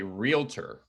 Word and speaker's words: realtor: i know it's weird it's not normal english realtor r-e-a-l-t-o-r it's realty r-e-a-l-t-y reality is spelled r-e-a-l-i-t-y and that's reality if you're an english speaker right yeah it's not reality it's realty so just